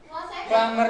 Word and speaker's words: plumber: Plumber itu artinya tukang pipa. Loh, saya nggak pernah lihat Mario Bros kerja. Pernahnya melihat di lama. Oh, cuma mainan. Dia plumber, bacanya nggak pakai b.